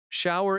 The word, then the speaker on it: shower: Shower in American English sounds like show er. Two syllables, but smooth.